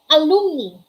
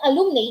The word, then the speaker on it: alumni: Alumni. It's not alumni, it's pronounced as alumni.